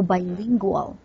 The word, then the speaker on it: bilingual: so wrote I say for example bilingual that is the sound of L so bilingual bilingual background background a